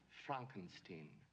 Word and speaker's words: Frankenstein: Looney Tune song starts playing my name it's pronounced Frankenstein but aren't you the grandson of the famous